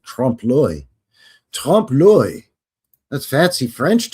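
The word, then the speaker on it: trompe-l'œil: And you know, you just sound all fancy and sophisticated when you pronounce it trompe l'oeil.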